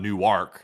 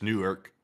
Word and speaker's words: Newark: Apparently, it's not Newark. It's Newark. Interesting. Huh. I never knew that. I always called it Newark. Apparently, it's Newark.